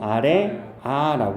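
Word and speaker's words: ㆍ: 아래 아라고 읽으면 돼요. 글자 이름이 아래 아예요. 근데 이 아래 아의 소리는 실제 아 소리와 어 소리의 중간으로 내면 돼. 아 소리와 어 소리의 중간음. 아, 이 소리야.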